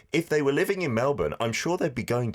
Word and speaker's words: Melbourne: Korean language centre in Melbourne, Australia. CT saying, and maybe, Adam, you didn't correct me because you're very polite, it's not Melbourne, how it's spelt, but Melbourne.